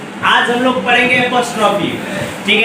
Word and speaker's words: apostrophe: आज हम लोग पढ़ेंगे एपोस्ट्रॉफी। ठीक है, एपोस्ट्रॉफी का अर्थ क्या होता है। देखो पहला चीज इस चीज के बारे में हम लोग जानेंगे कि एपोस्ट्रॉफी है क्या। सही प्रोनाउंसिएशन क्या होता है, एपोस्ट्रॉफी।